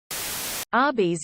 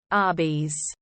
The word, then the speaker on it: Arby's: pasta all at once Arby's is how you would pronounce RBS as in roast beef they sell roast beef RBS Arby's that my doctor was